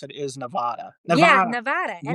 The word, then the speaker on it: Nevada: Like I always pronounced it Nevada. Yep. And then I met him, and he nicely was like, it's Nevada.